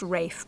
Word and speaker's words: Ralph: It's called the Vagabond and it's by Ralph Form Williams, pronounced Rafe by the way, Rafe Form Williams.